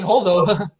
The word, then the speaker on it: Holdo: That's her name, Holdo.